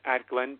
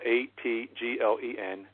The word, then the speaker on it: Atglen: Cloudless night at Glen, Pennsylvania, and that's spelled ATGLEN, at Glen, Pennsylvania.